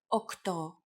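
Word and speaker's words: οκτώ: Sometimes, though, especially in casual conversation, Greeks also use efta instead of epta, ochto instead of okto, and enea instead of enea.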